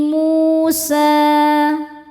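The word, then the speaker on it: موسى: Wa fi Musa, mu hukumnya adalah mad tabi'i dhohiri, sebab ada waw sukun sebelumnya baris dhammah. Cara bacanya panjang 2 harokat.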